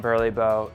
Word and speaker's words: BURLEBO: The reason we came up with the name Burly Bow is one, we wanted something very unique.